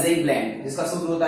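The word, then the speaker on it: zinc blende: जिंक ब्लेंड बहुत important है, जिसको जिंक ब्लेंडी भी बोलते हैं उच्चारण में।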